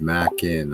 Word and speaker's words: Mackinac: got away lots of snow yeah yeah yeah pronounced mac in uh there we go mackinac island thank you